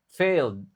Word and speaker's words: failed: have failed in teamwk ini lagi-lagi ed-nya enggak dibaca failed cuma ditekankan at presentations are training